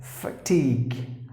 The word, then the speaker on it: fatigue: have to pronounce awareness fatigue fatigue not fair here just like the timer ah fatigue you have to drag the sound into a long sound so fatigue that's the